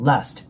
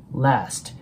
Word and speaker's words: last: 発音しますでその後の Last なんですけどこれに関しては母音の部分が R と A の中間音なので少し顎を下げながら Last ちょっとね R と A を混ぜるような感じで発音してもらえたらと思い